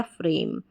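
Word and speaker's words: frame: को पढ़ दें, म लास्ट में ई प्रोनाउंस नहीं हो रहा है, ये बन गया फ्रेम।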